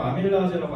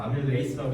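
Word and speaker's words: amylase: 너네 그리고 아밀라제라고 안 배웠잖아요. 아밀레이스라고 배웠잖아요. 아밀레이스.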